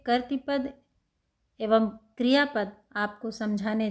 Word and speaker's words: कर्तृपद: यह इसमें ऋ की मात्रा है नीचे तो इसको कर्तृ पद पढ़ते हैं ना कि कर्तृ पद। कुछ लोग कर्तृ पद पढ़ते हैं। वो सही नहीं है।